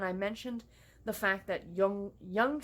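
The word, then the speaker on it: Yonge: mentioned the fact that Young Street keeps getting mispronounced in the book as Young Street, which is like nails on a chalkboard to me.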